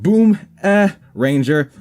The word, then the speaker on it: Boomeranger: The Boomeranger, pronounced Boom-Ranger.